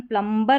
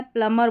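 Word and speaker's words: plumber: अब यहां पर प्लमबर इसका उच्चारण प्लमबर नहीं करना है। यहां पर उच्चारण दिया गया है। प्लमर बोलना है। सही जो इसका उच्चारण है प्लमर है क्योंकि एम के बाद बी है और बी साइलेंट है।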